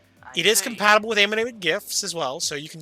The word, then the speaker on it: GIF: pronounced gif because uh the G stands for graphical it wasn't J stands